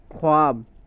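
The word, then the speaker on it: خواب: को लिखा जाता है, इस वाव मादूला में वाव को तो लिखा जाता है लेकिन पढ़ा नहीं जाता। जैसे खुद, ख्वाब, अब देखो खुद है और ख्वाब, ख्वाब नहीं ख्वाब, इसका प्रोनाउंसिएशन जो है, तलफ़ुज़ क्या बनेगा हमारा, ख्वाब, ख्वाहिश वगैरह।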